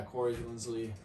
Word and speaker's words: Corey Linsley: You look at someone maybe like Corey Linsley. I think that's how you say his name, right? Corey Linsley. Yeah, Corey Linsley.